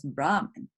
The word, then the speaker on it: Brahman: uh and that is the priest when is brahman that's when this is the supreme being okay all right hopefully